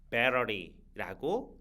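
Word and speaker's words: battery: 표현을 해 주셔도 되는데 영어에서이 t 발음이 있잖아요이 t 발음이 모음 발음 사이에 쏙 들어가 있으면 리을 발음으로 주로 활용이 되기도 하거든요 그래서 bettery라고 읽어 주셔도 좋습니다 다음 예문이에요 이건 망치가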